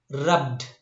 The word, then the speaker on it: rubbed: and we pronounce this one bagged but the pronunciation of these two is i mean rubbed bagged what is that rubbed bagged okay yidi